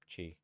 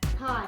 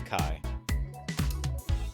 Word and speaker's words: Chi: it up that's pronounced Chi something I don't know I'm looking for it on Wikipedia this one it's spelled Chi oh it's pronounced Kai k k pronounced Kai yeah it's Kai the one that looks